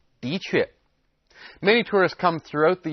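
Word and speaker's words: 的确: Now notice that the de character here is pronounced 的确.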